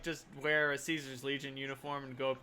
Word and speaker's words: Caesar: But you can dress up in a Caesar's Legion uniform and walk to another Caesar's Legion guy and be like, yep, another day in Caesar's Legion. They'll be like, it's pronounced Kaiser.